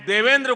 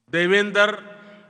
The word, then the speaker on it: Devendra: I said that their name, Devendra, rhymes with my own name, Narendra.